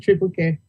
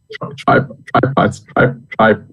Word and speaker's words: Tripart: Is it Tribe Care? I don't want to call it triple care. Can you pronounce it for me, sir? Dr. It's triparts, like 3 parts.